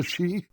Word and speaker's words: Sidhe: Ssithra are not like the Sidhe . - CIVVIE: The what? - The Sidhe. OK, but there's a "D" in that word, and that's how I'm gonna pronounce it.